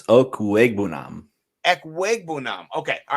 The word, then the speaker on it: Okwuegbunam: Is it Albert Okawugabanam? Is that right? It's Okwuegbunam. Ekwegbunam. Okay. All right. I was trying to pronounce it.